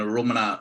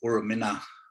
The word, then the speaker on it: Arrernte: And Arrernte, or Uramina, when it's poorly pronounced, is my nana's mother's country.